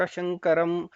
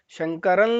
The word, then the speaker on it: ಶಂಕರಂ: ಲ ಅಂತ ಶಂಕರ ಲೋಕ ಶಂಕರಂ ಶಂಕರ ಲೋಕ ಲೋ ಅಂತಾನೂ ಹೇಳಬಾರದು ಶಂಕರಂ ಅಂತ ಹೇಳೋದಲ್ಲ ಅದು ಶಂಕರನ್ ಲೋಕ ಶಂಕರಂ ಅಂತ ಉಚ್ಚಾರಣೆ ಮಾಡಬೇಕು ಮತ್ತೆ ಅನುಸ್ವಾರದ ಮುಂದೆ ಕಚ